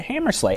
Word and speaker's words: Hammersla: CEO of Utilidata, Hammersla. thanks for being here. Thank you. And when I asked how to pronounce his name, he said Slay, like Rudolph and Santa and everything.